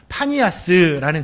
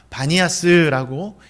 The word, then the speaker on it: 바니아스: 바꿔가지고 판신이라는 이름에서 따와가지고 파니아스라는 지역으로 이곳을 부릅니다. 그런데 이후에 또 아랍 사람들이 이곳에 살면서부터는 이 아랍 사람들 피 발음을 못한다 그래요. 그래서 파니아스가 아니라 바니아스라고 이렇게 이름을 했다고 합니다.